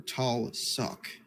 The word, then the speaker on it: Tulsuk: It is the city of Tulsuk, or Talsuk, as it's pronounced, but most people call it Tulsuk. Tall sock. Soak. It's like SOAK minus the A.